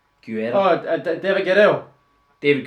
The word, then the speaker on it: Guerrero: How do you pronounce that name? Guerra? Oh, David Guerrero. David Guerrero.